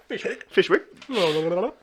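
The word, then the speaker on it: Fyshwick: These guys are up in the ATC, Fishwick. Fishwick. That's how the locals pronounce it.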